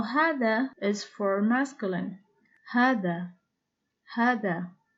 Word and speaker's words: هذا: So when you want to write hada, don't write the alif. But when you want to say hada, you have to pronounce the alif. Now hada is for masculine.